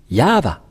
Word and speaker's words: Yahvah: micro pour qu'il le lit je vais répéter yava voilà et donc ces lettres lorsqu'on va les